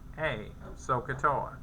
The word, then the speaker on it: SOHCAHTOA: The SOHCAHTOA thing that I keep talking about, so, S-O-H, pronounced so, Ka, C-A-H, Toa, T-O-A, SOHCAHTOA.